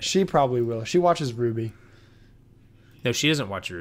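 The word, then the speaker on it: RWBY: it might be but the way I'm spelling Ruby when I say Ruby Oh rwb why yeah it's that's how it's spelled yeah because it's an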